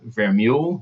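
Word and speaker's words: Vermeule: sorb armari and Harvard Professor Adrian ver mule is that how you pronounce that yeah um both recent converts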